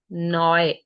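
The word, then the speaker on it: neu: है जो for example N ई यू is pronounced as नॉय नॉय and next जो word लिखा हुआ है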